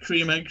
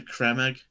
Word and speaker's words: Creme Egg: Apparently, everyone's been saying it wrong all these years. It's a creme egg. Oh my god. Yeah. Because it's CREME.